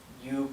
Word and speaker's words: yo: you pronounce that why it's like if you were unsticking the back of your tongue from your upper plate go okay go I